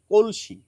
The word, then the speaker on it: কলসি: যেভাবেই আপনি বানান লিখুন না কেন এর উচ্চারণ কিন্তু এই কলসি।